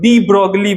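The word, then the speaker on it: de Broglie: अलग है, लेकिन हाँ, लोइस फ्रांस के थे, तो फ्रांस वाले थोड़े अलग प्रोनाउंसिएशन करते हैं। हम लोग तो इंडिया वाले हैं तो हम लोग डी ब्रॉगली बोलते हैं, ना पता कहाँ क्या बोला जाए, गांव चलो ब्रोगलिया ब्रोगलिया भी बोल देते होगे।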